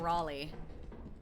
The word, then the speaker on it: Raleigh: Oh, No, you guys are missing the fact that she said Riley instead of Raleigh.